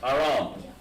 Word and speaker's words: Aram: We'll call it Aram. Aram. Or Aram. Aram. It's Aram. But how we pronounce it in Hebrew is spelled like this. With an H and Ra and an M.